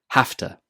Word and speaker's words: hafta: So hafta is a contraction of have to. When speaking quickly, we change it to hafta. The v sound in have changes to a f sound, and to takes the weak form ta. Put it together and you get hafta.